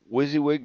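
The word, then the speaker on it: WYSIWYG: So, we're going to add the Wizzywig directory, and it's spelled WSI WY G.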